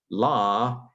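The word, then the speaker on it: לָא: where the quote begins, La itai, itai. Now, again, in Hebrew, this is lo, because Hebrew did the Canaanite shift, where long A's became long O's.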